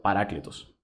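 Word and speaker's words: παράκλητος: Este es del Strong griego 3875 y se pronuncia parácletos.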